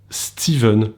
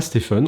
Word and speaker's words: Stephen: une exception pour laquelle on prononce le ph v c'est steven pour stephen enfin c'est à dire que ça s'écrit stephen mais on ne prononce pas stephen on prononce steven et